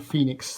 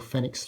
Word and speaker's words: Fenix: night plus Edition and the Garmin Phoenix 3 HR or Fenix 3hr depending on how you want to pronounce it the reason I'm doing